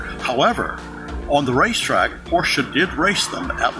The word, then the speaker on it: Porsche: jaguar or a Jaguar Porsche is pronounced Porsche two syllables not Porsche the benefits of this